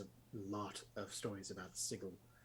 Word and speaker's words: Sigil: There's a lot of stories about Sigil, which is what I'm going to call it, even though it could also be pronounced Sigil.